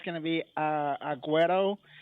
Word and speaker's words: Agüero: going to be uh Aguero. It's like you saying an O at the end.